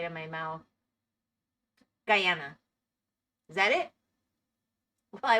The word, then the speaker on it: Guyana: Guyana. It's just like guy. Like guy and banana. It just doesn't feel right in my mouth. Guyana, is that it?